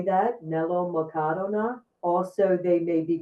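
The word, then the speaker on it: μελομακάρονα: These are melomakarona, is how you say that, melomakarona.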